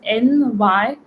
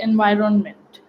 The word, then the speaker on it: environment: It's everyone has different pronunciations, but the actual pronunciation of this word is environment. Okay, environment. It's something like that, and it's not environment. Many people don't even say the n sound, they just say environment.